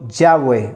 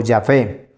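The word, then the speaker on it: Yahvé: entonces el nombre jehová y los hebra listas han llegado al acuerdo general que la pronunciación debe haber sido ya ve o ya fe y estas cuatro consonantes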